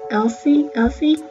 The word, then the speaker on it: Essie: Now I'm taking, I think it's pronounced Essie nail polish, and it's in